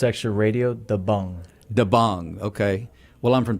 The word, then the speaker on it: Dabang: And the pronunciation for that, it's actually Radio Dabang.